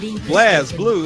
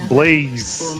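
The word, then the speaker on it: BlazBlue: And I heard somebody else was like, "Blaze Blue?" I'm like, "What the hell is a Blaze Blue?" Like, no, it's Blaze. Just cuz the E ain't dead don't mean you don't pronounce it right.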